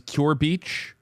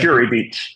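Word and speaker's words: Kure Beach: Oh, this is if I'm pronouncing it correctly, Wes, I think it's Cure Beach. If I have that. Curie Beach.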